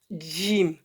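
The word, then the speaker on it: ج: Jim, on appuie sur les dents, à côté. C'est pas en avant, c'est à côté. Jim.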